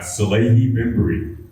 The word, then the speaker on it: Salehe Bembury: the war is all how do you PR pronounce your name uh SEI bimur s yes okay perfect because I have a